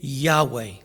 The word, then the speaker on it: Yahweh: But the most likely pronunciation is Yahweh.